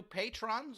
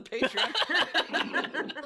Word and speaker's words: Patreon: we've got two new patrons on patrons on the patreon never get it it's pronounced Patron I know I can't